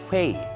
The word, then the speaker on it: 회의: 회의, so you can use that. Say it with me, guys. It's also one syllable.